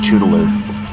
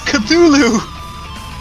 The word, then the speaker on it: Cthulhu: references it's about apparently an anime girl who's chew to live i'd still it anyway i